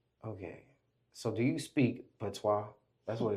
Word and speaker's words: patois: So do you speak patois? That's what it's called, right? Patois. Yeah. I don't know how to pronounce it. No, it's okay. You didn't say it wrong, but it's patois.